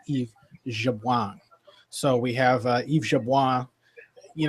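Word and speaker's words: Yves Jabouin: Elbow advises us that the proper pronunciation is is Eve Jabang.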